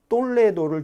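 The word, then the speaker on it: Toledo: 그 서코투족들이 그러니까 AD 4세기에 똘레도를 중심으로 한 300년 정도 통치를 하게 됩니다. 저게 이제 톨레도라고 적어놨습니다만 서코토 왕국의 천혜의 요소 톨레도라고 적었는데요. 저희가 똘레도 이제 T 발음을 좀 굉장히 아주 세게 하죠.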